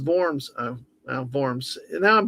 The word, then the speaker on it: Worms: Name most likely comes from the city of Verms in Germany, which would be pronounced Vorms.